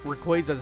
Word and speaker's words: Rayquaza: It would have been nice to see you sparkle and not Rayquaza's back. Yes, that is how you pronounce it.